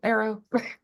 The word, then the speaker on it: Arro: What's your title, Arrow? In my family, we pronounce it Arro.